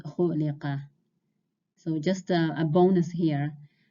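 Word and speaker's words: خُلِقَ: This is pronounced khuliqa.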